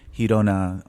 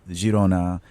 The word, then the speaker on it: Girona: Well, it depends on whether you're going to go through the Catalan way or the Spanish way, Hirona or Jirona.